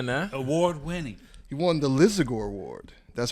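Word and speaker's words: Lisagor: He won the Lizagore Award. That's how you pronounce it, Lizagore? Yeah. Lizagore Award.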